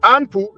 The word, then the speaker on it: Inpu: Now he goes by the name, in English we pronounce it Anpu, in Medunetcher it is Inpu.